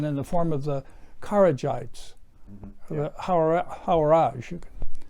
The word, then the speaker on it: Kharijite: In fact, not too long after its inception, in the form of the Kharijites, the Hawarij. You can pronounce that correctly for me.